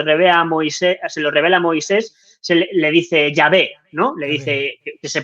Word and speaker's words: Yahweh: Le dice Yahvé, ¿no? Le dice que se pronuncia Yahweh.